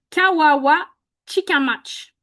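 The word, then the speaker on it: Kawawachikamach: Marilyn Gill, OK, ben, il y a l'intelligence artificielle de Google qui nous dit que ça se prononce bien Kawawachi Kamach.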